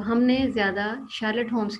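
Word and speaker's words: Sherlock: ये देखिए, शार्लक, LOCK, luck, शार्लक।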